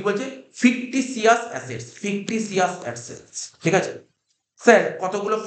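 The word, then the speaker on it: fictitious: ফিকটিটি প্রোনাউন্সিয়েশনটা টিটি না, প্রোনাউন্সিয়েশনটা ফিকটিসিয়াস। আর অনেকে বলে কি বলতো, আমি বলছি মানে বানানের জন্য বলে, অনেকে বলে ফিকটিটিয়াস, কিন্তু প্রোনাউন্সিয়েশনটা হচ্ছে ফিকটিসিয়াস, ঠিক আছে?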